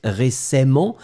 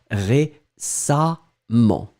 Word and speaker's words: récemment: nt vous allez les prononcer am donc on prononce récemment mais on euh pardon on écrit récemment mais on prononce récemment d'accord et la dernière chose et bien c'est